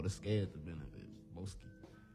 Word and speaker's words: B0aske: B0aske. That's how it's pronounced.